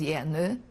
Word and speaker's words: Jenő: In Hungarian was Jenő. Spell that, please.